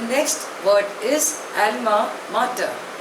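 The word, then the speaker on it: alma mater: hence he feels insecure the next word is एलमा martyr spelling is ए एल एम ए एम ए टी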